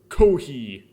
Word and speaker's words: コーヒー: Kohi. That's how you'd pronounce it if you're Japanese.